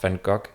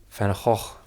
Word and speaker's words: Van Gogh: Many people think it's pronounced Van Gogh, which I also do now, but if you want to say it the real way, the Dutch way, it's actually Van Gogh.